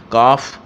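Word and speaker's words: calf: इसी तरह काल्फ है, काफ एल साइलेंट है, काफ पढ़ते हैं इसको काव्स, तो वी एस लगा देंगे।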